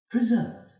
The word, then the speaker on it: preserve: Preserve. Preserve. The stress falls on the second syllable, and here all the bottles reserve something in them.